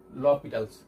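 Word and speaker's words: L'Hôpital: করি that is এল হসপিটাল rule এটাকে লীটালস রুলও বলা হয় ঠিক আছে উচ্চারণটা এটাই লীটালস তো এই রুল অনুযায়ী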